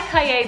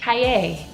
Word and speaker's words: Cahier: But this is how you say it. Cahier or Cahier. Cahier.